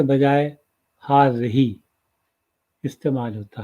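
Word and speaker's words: هذه: लिए हाजा के बजाय हाज़ही इस्तेमाल होता है। जैसे कि आप यहाँ देख रहे हैं हाज़ही, और इसको जिस तरह से प्रोनाउंस किया जाता है मैंने ब्रैकेट में लिख दिया है हाज़ही।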